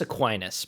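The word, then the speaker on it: Aquinas: a team, and I need your help on pronunciation for this, St. Thomas Aquinus. Close. It's St. Thomas Aquinus, but but we're we're close.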